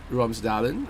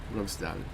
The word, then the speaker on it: Romsdalen: Let me just pronounce this properly. Romsterdalen. Right? Here you can see the troll. No way. Okay. Let me try to commit this into memory if I can. Romsdalen, right? Okay. Right. Romsdalen.